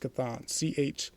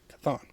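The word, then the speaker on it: Chthon: the kurfuffle and everything that took place, um, Kathon was then released. And I might have been saying it differently, but that's how it's pronounced. Cathon. Co N. Kathon.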